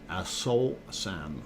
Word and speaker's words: Aso-san: Aso-san, or Aso-san. Aso-san? Yeah, don't mispronounce it.